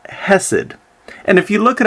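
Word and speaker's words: חֶסֶד: for loyal love in Hebrew the word is pronounced hessed and if you look it up in lexicons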